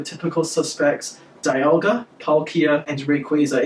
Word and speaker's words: Rayquaza: suspects Dialga Palkia and rayquaza it is pronounced Rayquaza not rack as a ax or something I don't